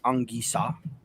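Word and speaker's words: Anguissa: french you know the the proper pronunciation of his name is angisa so that's his name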